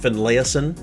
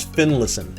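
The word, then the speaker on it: Finlayson: another name i've i've heard this one strangely uh finlaisen finlaisen i don't know there's no extra a it's like rilatore it's fin listen finn listen fin listen uh how ever heard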